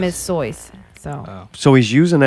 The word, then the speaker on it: Seuss: it's not true like soy is his German name correct white people call it Seuss cuz they don't know how to pronounce a German name like stick with that